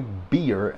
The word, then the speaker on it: beer: We don't say beer. I know it's spelled B-E-E-R, but we say burr here in Texas, in the South. Uncle Cliff like, I ain't gave that baby no damn burr.